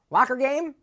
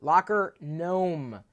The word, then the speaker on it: LockerGnome: Locker game? No. LockerGnome? No. LockerGnome.